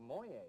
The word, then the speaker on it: Moyie: about well we're talking about a town called Moy a and it's hung up around the and there